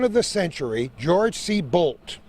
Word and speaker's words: Boldt: the century George see bolt that's spelled bol DT millionaire proprietor of the